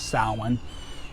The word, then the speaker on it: Samhain: look like it would be samhain s-a-m-h-e-i-n it's pronounced salmon and basically this was the last harvest of